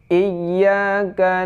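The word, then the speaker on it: إِيَّاكَ: Ayat yang ke-5 cara bacanya Iyyaka na'budu wa iyyaka nasta'in. Iya, bukan ini bacanya baris kasrah ya. Bukan ai, ya, bukan. Adapun iya bukan iya kan, tapi iya ada tasydidnya.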